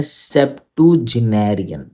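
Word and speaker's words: septuagenarian: Correct pronunciation क्या है? इसकी करेक्ट प्रोनंसिएशन है सेप्टोनेरियन। दोबारा सेप टू जेनेरियन।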